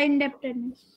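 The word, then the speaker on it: indebtedness: इंडेप्ट, बी नहीं होता, बी नहीं होता, ये DEDT, ये बी को बोलते नहीं है, हम बोलते हैं इसको रूरल इंडेप्टनेस।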